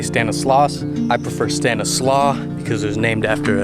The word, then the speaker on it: Stanislaus: bridge right here in stanislaus county some people say stanislaus i prefer stanislaw because it was named after a native american chief and stanislaw is a little bit closer to the actual pronunciation in 2012 it was